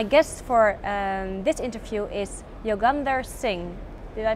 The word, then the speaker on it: Yogender Singh: My guest for this interview is Yogender Singh. Did I pronounce it good?